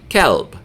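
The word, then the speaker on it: كلب: all right so and you can't mix them up cuz is your heart and calb is a dog so they mean something completely different um so please make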